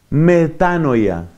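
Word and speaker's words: μετάνοια: Metanoia. Así como suena. No le pongas ninguna H ni nada. Metanoia.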